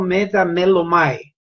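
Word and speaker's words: μεταμέλομαι: Para el Antiguo Testamento hay una palabra llamada arrepentimiento y se pronuncia como metamelomai.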